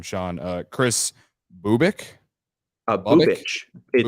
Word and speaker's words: Bubic: Bubich. So like if your boob itched. Literally, that's what it says in the pronunciation. Is it says boob itch.